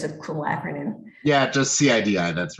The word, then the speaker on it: CIDI: I don't know how to pronounce it, but I'm sure it has a cool acronym. Yeah, just CIDI, that's right.